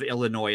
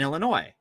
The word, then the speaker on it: Illinois: the same thing in Illinois um so first of all they don't even pronounce the S so there's already a